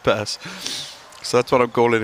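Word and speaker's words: Pers: My name, Purse, P-E-R-S. I've just, Lockie, funny you say that. He's just walked past me. I said, mate, how do you say your name? He said Purse.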